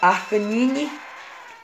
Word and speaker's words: Arcanine: Se pronuncia Arcanine.